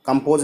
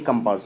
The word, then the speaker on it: कंपास: कंपास सो होगा, यहाँ पर सो का उच्चारण होगा, कंपोज नहीं कंपास होगा।